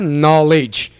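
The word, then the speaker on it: knowledge: extent of हिज नॉलेज यहां पर हमने डी को साइलेंट रखना है नॉलेज एक्सटेंट आर्टिफिशियल आर्टिफिशियल जाली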